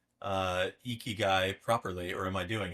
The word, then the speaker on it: ikigai: Oh, you are saying it correctly. We could practice if you want. So, you're gonna say e e. You're gonna say key and then I'll say guy.